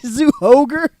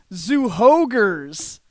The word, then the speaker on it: Zyuohger: did you say Zyuohger? There's no ogre. Zyuohger. That's not a ho-H.